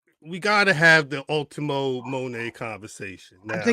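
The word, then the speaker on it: Moné: isn't it just Ultima Monae like that? But to be honest, the commentary, they they don't none of them pronounce Monae the same way. So yeah, they say Monday a lot.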